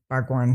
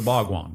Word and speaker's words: Bhagwan: The Bhagwan. The Bhagwan. Yeah. Oh, I love how you say it. I think she's saying it really correctly.